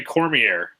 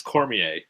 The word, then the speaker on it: Cormier: Yeah, but you also say Cormier, and it's Cormier. Cormier.